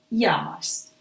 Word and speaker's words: llamas: ¿Cómo te llamas? Remember that these two together make the sound y.